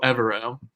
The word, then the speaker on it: Evero: with defensive coordinator um I looked up his pronunciation aerro evero evero is not too bad but yeah so